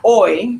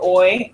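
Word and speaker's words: hoy: And when you think about that word oi, I always say, you know, like oi o because there the h is silent, right? No pronounce the h and say oi.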